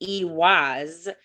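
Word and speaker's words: Ehwaz: Ewaz, pronounced Ewaz, is associated with vehicles, sacred to the Norse.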